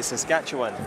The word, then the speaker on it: Saskatchewan: was asking you how to say it properly Saskatchewan okay now we've got it big foot country